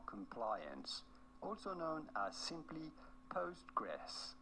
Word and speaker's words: Postgres: also known as simply postgress how do you go about pronouncing it well that's that's easy postgressql sounds like a mouthful so we just call it postgress anyway so on here